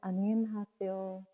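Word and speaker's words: 안녕하세요: तो हेलो की प्रोनाउंसिएशन है अनियन हासेओ।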